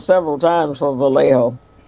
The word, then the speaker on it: Vallejo: been calling it no he said valley Joe that's what he said he called it valley Joe valley Joe